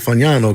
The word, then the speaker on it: Fagnano: I call it Fagnano because it's Italian.